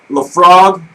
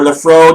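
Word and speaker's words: Laphroaig: The infamous Lafrog or Lafro, depending upon whether you're pronouncing it correctly or incorrectly.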